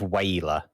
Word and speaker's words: HWYLA: The next one is it's a form of whaler, but it's called I won't try and pronounce it phonetically. I will spell it HWYLA.